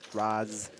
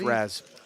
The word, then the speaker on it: Razz: flops open-ended not bad he mispronounced raz it's razz oh it's red i